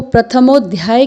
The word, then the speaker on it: प्रथमोऽध्यायः: यहाँ पर आपको प्रथमोध्याय के बीच में एक अंग्रेजी के एस जैसा निशान दिखाई दे रहा है। इसको संस्कृत में अवग्रह कहते हैं। यह एक लुप्त स्वर चिन्ह है और इसका प्रयोग लुप्त हुए अ को प्रदर्शित करने के लिए किया जाता है। तो आपको इसका उच्चारण करना है प्रथमोध्यायः।